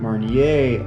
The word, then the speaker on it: Marnier: explorer was french and in french you don't pronounce the last letter of a word if that word ends in a consonant r is a consonant